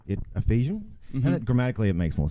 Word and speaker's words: Efesian: unofficially so ogs you can call me a fesian but going forward it's Ephesian my mate uh one of my Mates is